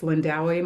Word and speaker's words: Lindawi: Um if you ever feel nervous pronouncing my name for any of you that may meet me in this world, um you can always call me, but of course my preference is Lindawi.